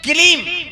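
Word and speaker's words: क्लीं: कलीब काला कथे कर मतलब नहीं जाना थे ना सुदर्शन, लेकिन कलीब शब्द सुंदर और कलीब सुनी तक कलीब कलीब कहा तो किलीम होगी।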